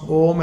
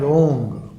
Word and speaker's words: Om: So even I have heard some Bengalis pronouncing, and somebody from Northeast, they pronounce Om as Ong.